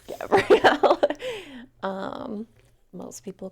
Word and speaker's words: Gabrielle: do you do a my name is Gabrielle Gabriel no Gabrielle I would like to make it known that Gabriel is spelled g a b r i e l most of the time and most of the time Gabrielle is spelled with the extra l e at the end so I just want